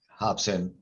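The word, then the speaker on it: Robson: the designer right yeah hobson uh spelled with an r it's portuguese um so they pronounce r's are like h like they don't say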